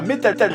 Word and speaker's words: Metal: d'ailleurs vous l'aurez remarqué je prononce à meet a tall et non pas métal de jus il ya